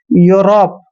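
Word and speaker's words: Europe: भी यू आता है तो ई यू का उच्चारण यू करना है यूलॉजी जैसे यूरोप यूरोप में भी क्या है ई के बाद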